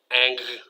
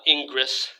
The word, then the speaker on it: Ingres: Ingres is basically pronounced as if the RES were not there. Ang. right? Angre. So not Ingress, right?